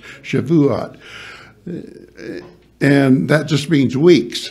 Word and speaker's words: Shavuot: it goes by uh the Jews call it Shavuot Shavuot three three syllables some people try to make it two-syllable but it's Shavuot and that just means